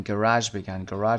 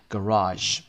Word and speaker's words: garage: گاراژ رو ممکنه که در بریتیش و استرالیایی و زبانهای دیگه انگلیسی به شکل‌های دیگه بگن گراژ بگن یا جب در انتها تلفظ کنن، اما معمولا در امریکن ما میگیم گاراژ. گاراژ هم داره.